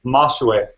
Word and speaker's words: Majois: Is it Majois? How do I pronounce that? Awesome. Yeah, it's pronounced Mashwe.